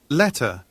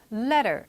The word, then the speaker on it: letter: letter, letter 이렇게 발음했죠. L과 E와 E 이렇게 모음과 모음 사이에 T가 약간 L이나 R 그 한 중간 정도 소리처럼 letter 약간 이렇게 발음이 됐죠.